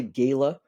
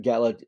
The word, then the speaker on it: gala: it is Gala so I've heard people say Gala before but Gala tends to be the pronunciation I hear most often um it's usually